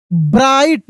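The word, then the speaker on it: bright: इट वाज अ ब्राइट जी H silent है।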